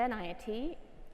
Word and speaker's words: Enayati: I'm Enayati, and you might notice that my last name rhymes with anxiety.